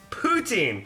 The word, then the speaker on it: Poutine: Poutine.